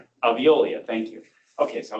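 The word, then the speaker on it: Veolia: in the um in the I'm going to butcher the name. The Boise water system. Aviololis or something. Aviolia.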